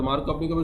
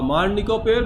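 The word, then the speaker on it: Markovnikov: আচ্ছা, এটা হলো মার্নিকপের বা মার্ক, ওটা আসলে উচ্চারণ মার্কভ-নিকভ, বুঝছো?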